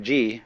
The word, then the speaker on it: Ji: The word Ji, which is Japanese way of pronouncing the Chinese Chur, is the world of things and events.